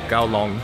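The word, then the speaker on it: 九龍: Apparently Kowloon, where we're staying, is actually pronounced something along the lines of Gaolong, Gaolong. I don't know the tones. Gao means nine, Long means dragon.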